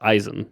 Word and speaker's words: Isen: how to pronounce it it's Eisen like Eisen guard oh yeah of course